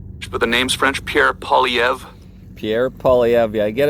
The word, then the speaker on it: Poilievre: Pierre Poilievre.